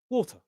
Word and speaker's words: water: In this expression here, bottle of water, in the word bottle and water, we stress they both have two syllables and we stress the first. Bottle, water.